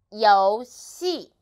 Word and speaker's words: 游戏: 游戏, 游戏. So, this syllable actually is final.